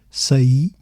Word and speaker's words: saí: Examples include sai versus say. Sai is the third person present tense of the verb say which is to leave while say is the preter perfect of the same verb and of course two syllables s e.